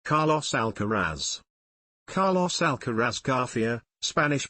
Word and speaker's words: Alcaraz: Carlos alarz Carlos alcaras garia Spanish pronunciation born the 5th of May 2003 is